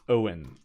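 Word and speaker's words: Eoin: Wow I will say it's spelt in the what is it the Gaelic or Celtic way I can't remember it's e o I n so it's Owen doesn't matter all right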